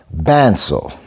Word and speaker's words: Bençao: And that kick is called Bençao. So it's spelled B-E-N-C with the little asterisk under it, A-O.